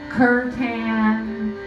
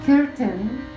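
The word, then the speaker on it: kirtan: means the word Kiran it's some people say Kuran or Kon but it's a Sanskrit word and it's pronounced Ken and it means to come together to sing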